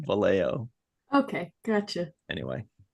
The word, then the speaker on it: Vallejo: the Bay Area okay because I said it Vio the way SP people would say it the way it probably should be pronounced but that's the locals call it valo okay gotcha anyway i'